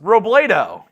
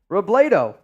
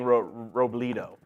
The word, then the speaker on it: Robledo: John, Mitch, Robledo is pronounced Robledo. Robledo. Like Play-Doh. Yeah, you were saying Robledo.